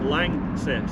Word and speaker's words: LANXESS: But langess. Oh, success. Lances. Got it. Got it. So now I know how it's pronounced and I've just read a little bit to the camera about what you do.